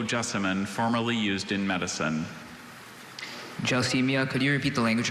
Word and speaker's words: gelsemia: Gelsemia. Gelsemia, may I have all the information, please? Gelsemia has no alternate pronunciations.